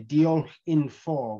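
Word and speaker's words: diolch yn fawr: or thanks deal or as it says here deal in four which means thank you very much another good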